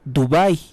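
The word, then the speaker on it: Dubái: ciudades tan distantes como Dubai con acento en la a la producción de fentanilo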